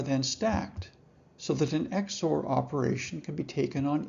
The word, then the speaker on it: XOR: a rule that divides the message in half and then combines the two halves in an exclusive or operation often written as XOR and pronounced exor.